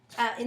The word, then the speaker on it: y: So the y in French is pronounced as I when it's used as a word, not to be confused with the letter y, y in the alphabet.